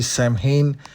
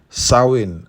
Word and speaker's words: Samhain: mention that I realized the pronunciation for this creature's name is not actually Sam ha is supposed to be sawin all right I think